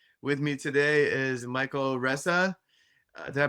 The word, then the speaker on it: Reza: With me today is Michael Reza. Did I pronounce that right? Reza, Reza, Reza, yeah.